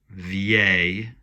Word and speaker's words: vieille: Beau versus belle, vieux versus, look at this, vieille. Lots of people pronounce that wrong, but I-L-L-E, just like in famille, is the Y sound.